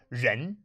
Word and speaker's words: 人: So something you need to know in Chinese is that many syllables end in en. And so the next character we're going to learn is ren.